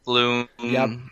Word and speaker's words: Blum: Steve Bloom, or Blum, however you want to pronounce it.